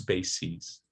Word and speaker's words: bases: We change the vowel to the tense vowel E, and the final sound is voiced. So crisis, singular, crises. in the plural. The stress doesn't change, okay? It's still cry, stress syllable. But just to emphasize second syllable, it's sees, sees. So crises, analysis, analyses, parentheses, parentheses, basis, bases, okay? And another video from the